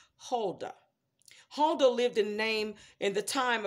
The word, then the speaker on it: Huldah: Now, I know that I'm probably going to be pronouncing this wrong, but I'll spell it first. Her name was H-U-L-D-A-H. And I'm going to say it was Huldah.